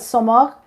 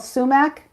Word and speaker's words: sumac: i sprinkle so uh well i call it soma that's how we pronounce it but um it's called sumac and it's s-u-m-a-c you